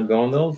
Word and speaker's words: Gondal: Is that how you say it, Gondal? My name is Gondal.